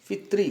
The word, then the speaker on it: पितृ: तो ऋकार पुल्लिंग शब्द यहाँ दिया हुआ है पितृ, पितृ नहीं पितृ, उच्चारण सही करेंगे पितृ।